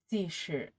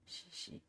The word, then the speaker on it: Cixi: Pronunciation. Zishi. Zishi. Zishi. Zishi. You can have a head pat, yes. Pat, pat, pat. Zishi. Shishi.